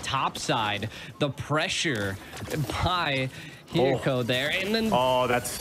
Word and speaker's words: Hiko: The pressure by Hiko there. And then. Oh, that's. Oh my God. Hiko does it again, G. Oh my God. You know, Hiko's name's almost like Iko, but spelled with an H, and I love it.